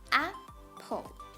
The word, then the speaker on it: apple: So we stress at the first syllable and we pronounce it as apple. We don't pronounce it as apple. That's wrong. So when we pronounce the word apple, ap is stressed, apple, pull is unstressed.